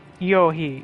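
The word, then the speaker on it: Eochaid: of proudly solitary ascetics so they're Yohi yeah that's how it's pronounced gotta say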